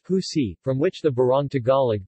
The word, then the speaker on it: usi: In the municipality of Tal, pineapple leaves are processed to form a kind of cloth known as usi, pronounced husi, from which the barong Tagalog, the national costume of the Philippines, is made.